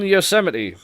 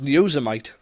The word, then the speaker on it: Yosemite: they've announced os 10 yosemite i was i always thought it was going to be pronounced user might when i first saw it because i didn't see it right but it's actually yosemite so they're sort of